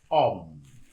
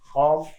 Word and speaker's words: homme: Because homme begin with a silent H.